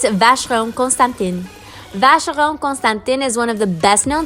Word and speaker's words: Vacheron Constantin: a vast Rome Constantine Vacheron Constantin is one of the best-known Swiss luxury watchmakers in the world again forgive that a pronounce it in French I pronounce everything in French or Spanish and that's I I